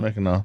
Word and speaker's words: Mackinac: Mackinac. It's spelled out Mackinac, Right. But Correct. But like so many other things, it doesn't. Yes. You don't say it the way you spell it.